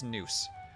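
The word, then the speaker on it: gnus: is it noose noose the g is silent so it is noose so I knew new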